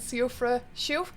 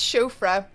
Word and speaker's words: Siofra: Okay, we found the underground Siofra. I think it's Shofra. I think that's probably pronounced Shofra.